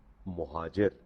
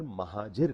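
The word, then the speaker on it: مُہاجر: لفظ ہے وہ ہے مہاجر۔ اس کو اکثر مہاجر کہا جاتا ہے۔ مہاجر غلط تلفظ ہے، یہ زبر کے ساتھ نہیں ہے، یہ پیش کے ساتھ ہے۔ آپ جب بھی بولیں بولیں مہاجر۔ مہاجر کا مطلب ہوتا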